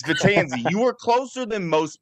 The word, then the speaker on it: Vetanze: And honestly, the way it's spelled, Matt, that's how it should be pronounced, but it's not. It's Vetanze, but I appreciate that